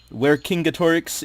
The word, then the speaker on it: Vercingetorix: But our players here, Hannibal Barca, Merov, Vercingetorix if you're speaking Latin. It is pronounced differently depending on which language you're speaking.